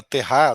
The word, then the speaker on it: TH: Então, a Luísa falou na Terra, né? Terra é como se fala em alemão TH, né?